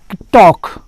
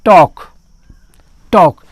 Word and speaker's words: talk: जैसा कि आप देख सकते हैं टॉक, TALK, जी हाँ, दो कंसोनेंट L और K, यहाँ पर दो कंसोनेंट है तो मेरा नियम है कि पहले कंसोनेंट का उच्चारण नहीं करेंगे, तो इसको पढ़ेंगे आप टॉक।